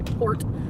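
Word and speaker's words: torte: A tort, from German, tort, pronunciation, tort, okay, in turn from Latin via Italy,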